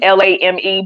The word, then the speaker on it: Lame: it's tabi lame is spelled like lame l-a-m-e but I think it's lame yeah yeah and he